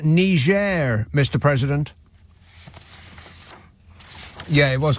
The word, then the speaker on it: Niger: It's pronounced Niger, Mr.